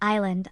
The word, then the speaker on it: island: In very few exceptions, S is silent as in island, isle.